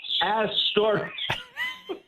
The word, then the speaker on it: Astoria: Astoria.